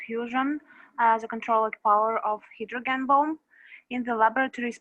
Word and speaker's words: hydrogen: It's the open syllable. It's Y in the open syllable. Therefore, it has to be pronounced as I, not as E.